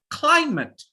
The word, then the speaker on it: climate: is noun or adjective always put pressure on the first sound so it's climate say to everyone climate put pressure on the phone say it everyone unmute yourself put more pressure on the first syllable any syllable with two